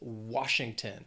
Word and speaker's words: Washington: then we have Washington three syllables stresses on that first syllable Washington sometimes people may confuse it